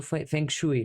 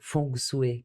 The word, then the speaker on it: Feng Shui: eles já falavam do Feng Shui, né? Ou Feng Shui, que eu descobri que é assim que pronuncia, né, gente?